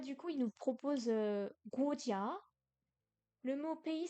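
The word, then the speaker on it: 国家: euh, Parce que là, du coup, il nous propose Guojia. Le mot pays s'écrit Guojia.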